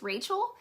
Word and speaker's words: Rochelle: and that's just because my parents spelled my name like rochelle so no one knows how to pronounce it i answer to rochelle um but it's really pronounced as rachel and um on the